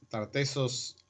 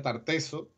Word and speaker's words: Tartessos: pronunciación tartessos o tartessos simplemente si los pronuncia como lo escribían los griegos pues tiene su forma que estar tensos y los latinistas por los castellanistas en este caso daría tartessos con una única s ese final no tendría esa doble es simplemente esa es la